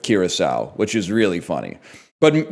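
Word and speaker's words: Curaçao: But then he did say Caraco instead of Curacao, which is really funny.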